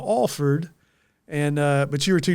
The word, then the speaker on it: Alford: And, of course, he told me the story that for the longest time he mispronounced your name. He was calling you Alford instead of Alford.